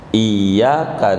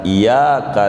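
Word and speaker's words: إِيَّاكَ: Kemarin ngaji Fathul Muin, Iyyaka na'budu bertasydid artinya hanya kepadamu ya Allah kami menyembah. Bila tasydidnya enggak ditarik, bacanya enggak ditekan, Iyyaka na'budu kepada matahari kami menyembah, jadi kafir gara-gara tasydid.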